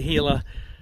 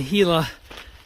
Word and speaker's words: Gila: Optimistic for a great day and once I hit the Gila um alternate, if you kind of Google that online, you can see the Gila alternate.